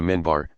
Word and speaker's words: minbar: a few steps of a pulpit called the minbar pronounced mi n bar in larger more established mosques